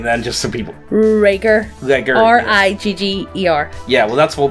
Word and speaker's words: Rigger: Rigger.